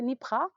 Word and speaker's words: NYPRA: Nous avons reçu pour vous monsieur Antien Kouou qui est le CEO de la société NIPRA, enfin je l'ai bien prononcé NIPRA.